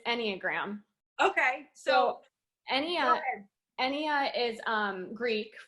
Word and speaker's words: Enneagram: You pronounced it right. It's Enneagram.